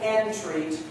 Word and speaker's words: entreat: And Entreat Me Not, don't say entreat. It's not entreat me not. It's entreat, to entreat. And I've heard recordings of choir singing, Entreat Me Not to Leave.